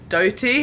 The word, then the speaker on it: Doughty: old and and then when I saw him live once he pronounced his name doty and I was like I've been calling you the wrong thing like the entire time I've listened to your